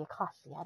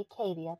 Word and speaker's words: acacia: The acacia, not the acadia, the acacia.